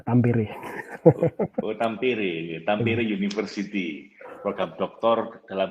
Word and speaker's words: Tampere: Sini kita Finland itu bacanya seperti Indonesia Pak, apa adanya, Tampere.